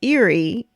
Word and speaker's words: Erie: right you're a butthead it's not eerie it's and kyle's like actually no it's eerie as in lake erie because my dad's from